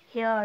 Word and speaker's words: heir: শুরু হলেও তার আগে অ্যান বসবে আওয়ার এইচের উচ্চারণ কী হচ্ছে ও এর মতো হচ্ছে আওয়ার এএমপি, আগে এএমপি, হেয়ার, হেয়ার মানে হচ্ছে উত্তরাধিকার, উত্তরাধিকার অর্থাৎ সম্পত্তির উত্তরাধিকার